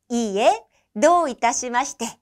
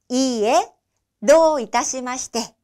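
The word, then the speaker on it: いいえ、どういたしまして: 이에 도 이타시마시테, 이에 도 이타시마시테 라고 발음하시면 됩니다.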